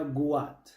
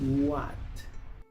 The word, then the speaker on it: what: Muchos pronuncian esta palabra guat, pero aquí la w se pronuncia u, la h es muda. Luego se pronuncia la a y la t. What.